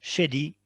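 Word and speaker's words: Schade: Oui, donc Shady, S-C-H-A-D-E, mais ils prononcent Shady.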